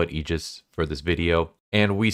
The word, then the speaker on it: AIGIS: I'm pronouncing it Aegis just because that's how it's pronounced in Persona 3, but maybe I'm wrong. But I'm just going to call it Aegis for this video.